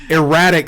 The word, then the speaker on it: erratic: Erratic Cyclops, for God's sake.